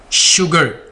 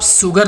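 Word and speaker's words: sugar: शुगर, इसको आप सुगर नहीं बोलेंगे। क्या बोलते हैं इस वर्ड को? शुगर। एस और यू दोनों लेटर्स आ गए तो शाह की आवाज़ होगी, शुगर।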